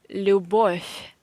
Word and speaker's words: Любовь: So you see that there is a V in the end of this Russian noun, but according to the Russian pronunciation rules, we pronounce this V and in the end of any Russian word. It means any Russian noun, any Russian proverb. Any Russian verb I wanted to say, yeah? If you see V in the end of any Russian word, you have to pronounce these as F, F, not V, but F.